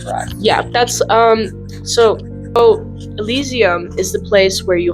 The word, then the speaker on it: Elysium: Wait, how did you say that one? Asylum. I said it. It says Elysium.